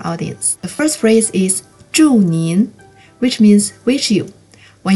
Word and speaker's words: 祝您: Here's how you pronounce it with the tones. 祝您, 祝您。